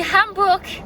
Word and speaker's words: Hamburg: hamburger on dit Hamburg le H on le prononce et le G à la fin du coup tu dois le dire aussi en allemand et du